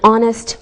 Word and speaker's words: honest: sound same with an honest man don't pronounce the H we say a university